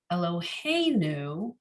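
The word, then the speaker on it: אלוהינו: You say Eloheinu, the emphasis is on the hey, right? Eloheinu, you don't say Eloheinu.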